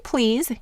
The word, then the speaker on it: please: with an e a and in please you'll hear that this phonogram is saying the long e sound however in the word